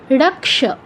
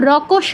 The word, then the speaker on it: রক্ষ: রক্ষ, ক অর্ধেক, আমি কিন্তু রকস বলছি না, রক্ষ, ক আগে আছে তাই আমাদের কটা আগে বলতে হচ্ছে, রক্ষ, রক্ষ।